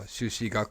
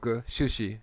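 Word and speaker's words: 朱子: in the context of japanese history as well shushi shushi jushi is pronounced sushi in japanese and the dominant sort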